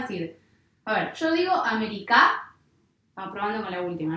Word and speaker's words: América: Yo digo América, no suena bien. Digo América, tampoco, así que no va a ser ni aguda ni grave. Digo América, sí, entonces la sílaba fuerte va a ser esta, ¿sí? Que es la antepenúltima.